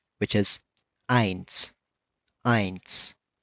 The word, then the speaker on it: eins: We're going to start off with 1, which is eins. Eins.